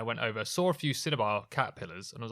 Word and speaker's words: cinnabar: Cinnabars do not. I thought you were saying cinema, and I was going to have to correct you, but you did just say it correctly.